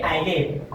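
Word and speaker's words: island: इसलिए आइलैंड और एस कहां है? आई और एल के बीच में आए वहां पर जो आपका एस रहेगा वो साइलेंट रहेगा जैसे कि आई नेक्स्ट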